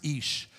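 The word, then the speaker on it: אִישׁ: on your screen there it's pronounced ish but you can see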